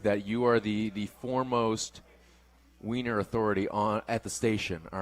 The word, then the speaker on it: Wien: In Vienna, they call the city Wien, and it's spelled W-I-E-N.